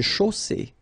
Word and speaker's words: chaussée: Une chaussée. Okay, here, final not pronounced. And then you get the double S between two vowels, so it's really strong. I mean, the S is s.